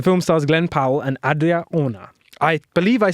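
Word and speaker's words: Adria Arjona: The film stars Glenn Powell and Adria Ona. I believe I said that right, because everyone's like messing up her name. Who is it? Adria Ona. Adria Ona? You spell it Arjona. Adria Ona.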